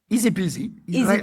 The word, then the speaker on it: Izipizi: Easy peasy. Like the English expression.